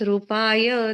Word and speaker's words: रूपाय: जीवादितत्व प्रतिपादकाय सम्यक्त्वमुख्याष्टगुणार्णवाय प्रशांत रूपाय दिगंबराय देवादिदेवाय नमो जिनाय। प्रशांत रूपाय, रू दीर्घ है यहाँ पर, तो दीर्घ उच्चारण कीजिए।